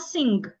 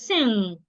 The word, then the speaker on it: sing: A lot of people pronounce this word as sing. It is not sing. It is sing.